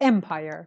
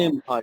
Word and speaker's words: empire: family Empire very good Empire the stress is on the first syllable Empire yes there's a structure